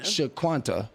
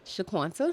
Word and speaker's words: Shaqunta: Shaquanta. Shaquanta. Oh, I was right. He was right. See, I was sha shaquanta.